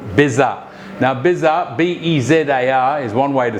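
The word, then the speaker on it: bezar: make a spice mix that's called bizarre now bizarre b-e-z-a-r is one way to spell it is a very traditional spice mix that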